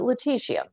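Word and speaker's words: lutetium: uh list on something that I can barely pronounce Leticia is it Leticia yeah that's that's a good pronunciation okay why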